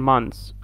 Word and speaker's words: months: زي month and months, okay. أو كمعناها one month, بتطلع لسانك فيها TH عادي. One أو two months, لو جمعتها two months, بتقول months بس, TH تبقى silent.